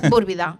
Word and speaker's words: Búrbida: Bueno, búrbida. Búrbida, non burbida, non? Eh, búrbida será búbida pronunciamos correctamente búrbida.